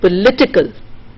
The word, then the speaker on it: political: Okay, and then you have politics, then you have political. So it is not political, all of us say political, but it is not political, it is political, and it is politician.